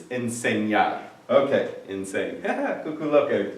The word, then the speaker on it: enseñar: Insane. But actually that's not correct pronunciation. It's enseñar.